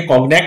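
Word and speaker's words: Cognac: পেটকফ বলছে ও তাহলে ঠিক আছে, দ্যাটস রাইট, ঠিক আছে, হ্যাভ ইউ ব্রট মি সাম কনেক, এই কনেক উচ্চারণটাকে অনেকে কগনেক বলে থাকেন আবার অনেকে কনেক বলে থাকেন।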